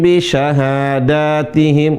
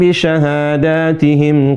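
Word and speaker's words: بشهاداتهم: Walladzina hum bisyahadihim. Bukan. Walladina hum bisyahadatihim q. Enggak. Ini salah bukan walladina hum bisyahadatihim qoimun. Jadi kalau ada mim mati bertemu dengan ba ditahan dua harakat.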